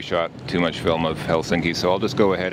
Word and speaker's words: Helsinki: almost all finished words put the emphasis on the first syllable so the city's actually pronounced Helsinki not Helsinki so there you go